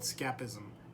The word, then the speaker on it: Scaphism: This is called Scaphism, if I'm saying it right. It's spelled S-C-A-P-H-I-S-M.